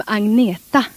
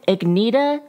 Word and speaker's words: Agnetha: Maybe she just wanted Agnetha to rhyme with Frida. Agnetha and Frida.